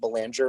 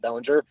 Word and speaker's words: Belanger: Representative Fargo, it's pronounced Belanger, not Bellinger.